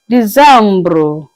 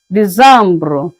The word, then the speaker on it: décembre: December is pronounced as Decembre. Decembre.